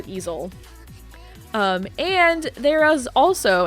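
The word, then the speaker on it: Eizzil: e-i-z-z-i-l i can't spell it's lizzy backwards um that is pronounced easel um and there is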